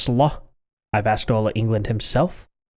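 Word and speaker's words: Slö: But it's actually pronounced slaw.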